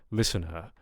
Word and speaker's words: listener: So, right, if you're going for a British, I guess, standard, say, South British accent, listener, you can get away with, not pronouncing the rhotic sound at all, at least in this context. However, the vowel quality does change, right? It's not just listener, but we want a drawn out listener.